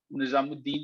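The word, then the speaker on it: ناظم الدین: बैठे जो है वो ख्वाजा निजामुद्दीन जो है वो नाजिमुद्दीन जो है, दोनों तरह से प्रोनाउंसिएट कर सकते हैं, ये गवर्नर जनरल थे।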